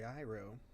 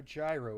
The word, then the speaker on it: gyro: I have a gyro. Or a gyro. How they want you to pronounce it. Or a gyro, as many pronounce it.